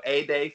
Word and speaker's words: Ede: It's spelled Yeah. Ede. So Ede Fox.